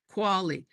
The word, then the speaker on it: Quali: Quali, like quality without the it.